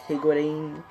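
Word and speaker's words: Higuita: gonna go for a striker it's gonna take higuity that's how you pronounce his name okay it's gonna take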